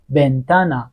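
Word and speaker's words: ventana: بین ب و میده اوب بیده بیدا زندگی بنتانا پنجره وث صدا صدا صدا حرف بعدی دوبل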